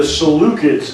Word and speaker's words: Seleucid: that for years now but it is actually the salukis is the name of